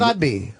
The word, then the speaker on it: Abdi: Barkhad Adbi will be in studio next. Barkhad Abdi. I think it's Abdi.